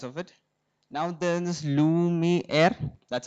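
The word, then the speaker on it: Luma AI: Now there is Lumi Air. That's how it's pronounced.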